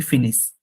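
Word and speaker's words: finissent: ইল, এটা কিন্তু উচ্চারণ হবে ফিনিশ। সবসময় ভার্বের লাস্টে ইএনটি থাকলে ওটা উচ্চারণ করতে হয় না, এটা নোট রেখে দিয়েন।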